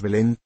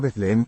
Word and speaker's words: Belén: En español, por un proceso fácil de imaginar, las antiguas th como la de Mateo o Matías han terminado por escribirse solo con t, y las pronunciamos t, y no z, decimos Belén, y no Betlehem, Nazaret, y no Nazareth, Betsaida, y no Betsaida,